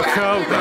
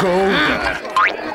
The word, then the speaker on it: Gouda: Y sí, se pronuncia jauda, no gouda.